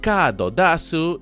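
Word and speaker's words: カードダス: Una variante de estas máquinas son las de Cardas, se pronuncian Cadodasu y es una referencia a Amedasu y ahora vais a flipar.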